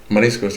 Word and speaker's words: mariscos: Mariscos? That's how you say it, right? Mariscos, yeah. Yeah, that's like... There's a lot of different types, but that's how you pronounce it.